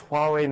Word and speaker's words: Huawei: If we get this, we've pretty Huawei much won.